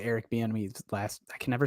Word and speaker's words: Bieniemy: I can never say Eric Bieniemy's last.